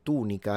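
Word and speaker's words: tunica: When it comes to the tunic, the Romans in Latin pronounce it tunika rather than tunika in English. They say tunika and the u is long.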